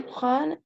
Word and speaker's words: prennent: Ils me prennent Me pour prennent. me prennent Acuérdense que la E, cuando está antes de una doble consonante, se pronuncia como una E abierta.